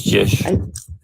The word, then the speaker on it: Jish: Hello, how do you pronounce your name? Jish. SVS. It's Jish.